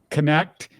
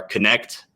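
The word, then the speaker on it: Knecht: You pronounced Dalton Connect without the K. I have heard the K.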